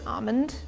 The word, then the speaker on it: almond: Okay, so I think the way I heard it a lot growing up was almond, like dropping the L in entirety.